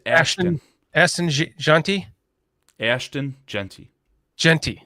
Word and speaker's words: Ashton: So is it Ashton? Or is it Austin? It's Ashton.